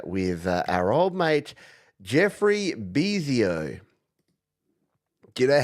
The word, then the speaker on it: Bezio: Let's kick off a big second half here with our old mate, Jeffrey Bezio. Do you know how I know that you pronounce it Bezio?